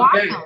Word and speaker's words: Wacom: If you go to their site, they call it Wacom. Okay. Well, then I've always said it wrong.